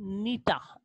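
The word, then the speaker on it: Gnetum: उसके बाद जो कि नीता नीता प्लांट जी साइलेंट इसके अंदर नीति के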